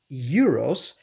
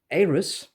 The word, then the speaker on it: Euros: Um, I would have pronounced it Euros, but I've come to learn that it's rather pronounced something like Aris, so I'll stick to that for this video.